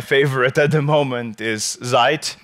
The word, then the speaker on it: Zeit: It does the same thing, and my favorite at the moment is Zeit. It's not Zeit, it's Zeit, because it's American, so they don't know how to pronounce German.